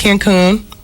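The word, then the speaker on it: Cancún: A lot of people going to Cancun. Accent on the coon.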